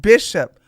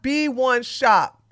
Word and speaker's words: Bishop: But he keeps telling you it's pronounced Bishop. Oh, thank you, Disney girl. Oh, his name is Bishop, not B1 Shop.